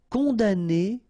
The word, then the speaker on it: condamner: Condamner pour. Remember, we don't pronounce this M here. Condamner.